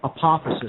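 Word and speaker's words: apophasis: it's a method of reasoning okay it's called apophysis and I'll spell that for the listening audience its APO phas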